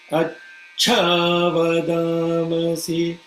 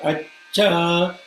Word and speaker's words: Achavadamasi: need to hold the, because the cha with the cha below it, so it should be Achavada. See, I'm kind of taking a little bit of pause and pronouncing the cha. Achavadamasi, not acha, acha. You are saying acha still. Acha, complete aspiration should be there.